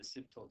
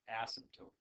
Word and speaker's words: asymptote: I say asymptote, and it can be produced asymptote or asymptote. Either way is correct.